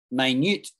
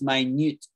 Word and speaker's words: minute: So if something was really small, we would say it's minute. But there's 60 seconds in a minute. Yeah, minute. and minute are spelt the same, but the emphasis is different in how we pronounce it.